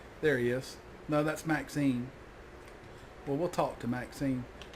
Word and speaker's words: Maxine: Maxine rhymes with queen after all the dears.